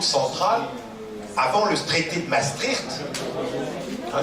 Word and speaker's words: Maastricht: Les banques centrales, avant le traité de Maastricht, hein, c'est comme ça qu'il faut prononcer, c'est la prononciation des Pays-Bas, puisque ça se trouve dans les Pays-Bas.